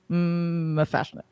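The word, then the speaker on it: M'Fashnik: And Dawn, Buffy's sister, says to Giles, he says, "Is it pronounced like cookie?" And he just says, "No, it's just Mafashnik."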